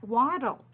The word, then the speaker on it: wattle: is called his wattle can you say that waddle kind of like the way they walk waddle waddle waddle but it's spelled different yeah so you can